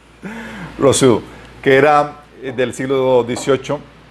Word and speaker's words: Rousseau: ¿Saben cómo se pronuncia? Rousseau, que era del siglo XVIII.